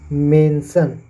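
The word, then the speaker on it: mention: जहां पे आते हैं इनका उच्चारण सन से होता है जैसे मेंशन एम ए एन एस आई ओ एन मेंशन टेंशन session उसी प्रकार देख सकते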